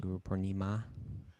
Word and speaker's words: Guru Purnima: Guru Purnima. It's a Guru Purnima. You know, you're a Purnima? linguist. Someone yeah, it's a long A on the end there. Guru Purnim. Ma.